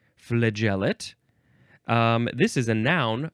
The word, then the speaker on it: flagellate: uh I of I I think it's pronounced the same way flagellate flagellate flagellate um this is a